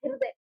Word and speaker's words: हृदय: ये क्या हो जाएगा हृदय हृदय इसको उच्चारण करिए बार-बार हृदय र का साउंड आ रहा है आपको यानी जो हमारा